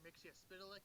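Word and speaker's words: Mxyzptlk: Mixia-Spitalik. Yes, that's how it's pronounced.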